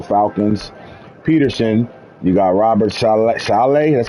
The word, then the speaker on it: Saleh: Kyle Shanahan, you got DeMarco Ryans, you got John Harbaugh, Arthur Smith for the Falcons, Peterson, you got Robert Saleh, that's how you say his name, Mike McCarthy at number 10.